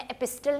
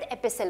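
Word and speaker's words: epistle: हूं तो यहां पर मैं टी को प्रोनाउंस में एपिस्टर नहीं कहती इसको I call it एपिसल why because T is silent एपिसल का मतलब ही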